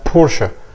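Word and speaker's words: Porsche: انا صدمتك بس هاني ما اسمهاش برش خالص هي اسمها بورشا بورشه طيب والعربيه دي مش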